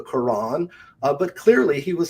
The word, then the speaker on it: Quran: He used to say the kwan instead of the Quran.